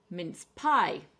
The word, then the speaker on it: mince pie: mince pie. I ate a lot of these. And we're going to stress the second syllable for this one.